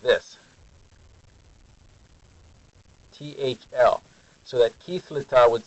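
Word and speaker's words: kerretv: Here is how you spell it. You go like this. Kithlita.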